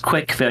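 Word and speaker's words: CWCville: Okay, well, firstly, it's pronounced Quickville. You just say CWC like it's spelled like the word quick.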